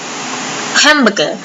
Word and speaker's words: hamburger: g e r Hamburger เน้น หนัก ที่ พยางค แรก นะ คะ คำ ว่า แม